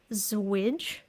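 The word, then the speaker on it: ZWJ: a zero width Joiner allegedly this is pronounced zwij the switch is also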